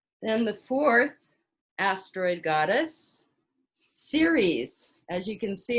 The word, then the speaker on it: Ceres: the fourth asteroid goddess ceres as you can see it's spelled like cereal for she's the earth mother the earth goddess and you'll see around her symbol they're actually little leaves ceres is the earth mother